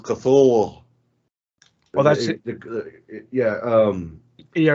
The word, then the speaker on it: Cthulhu: Oh well, if you want to know how it's actually pronounced, it's Cthulhu.